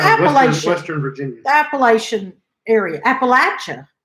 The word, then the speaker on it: Appalachian: Western Virginia's Appalachian area Appalachian is the right way to say if they say sure